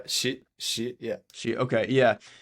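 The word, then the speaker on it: Xi: mispronouncing it but um it's president x i yeah she she is that how you spell you pronounce it yeah she she yeah she okay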